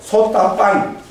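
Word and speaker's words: sotāpanna: 그리고 소따 빤. 맨 뒤에 N은 발음 잘 안 합니다.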